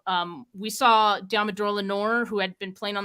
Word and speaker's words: Lenoir: after the draft and I pronounced it Lenoir his last name I was like it's French um so after that I was corrected and I've never said his name wrong since so Dumbledore Lenore uh